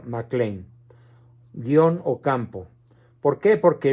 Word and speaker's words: Mac Lane: que no lo sepan se escribe Mac Lane en inglés pronunciación mcclain todo junto mcclain guion Ocampo por qué